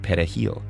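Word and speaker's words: perejil: Spanish word for parsley Dominicans pronounce it pahil with a trilled Spanish R the primary Haitian language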